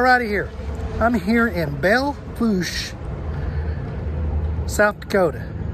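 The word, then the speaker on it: Belle Fourche: y'all on star rider here i'm here in belfoush south dakota bail foosh i had to ask how to pronounce the name uh i'm here at a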